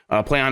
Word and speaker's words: Plaion: Every time I see PlayOn, I'm like, how do you say that?